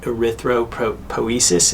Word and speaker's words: erythropoiesis: power output um it happens by way of erythropoiesis if i'm pronouncing that right that's right that's just the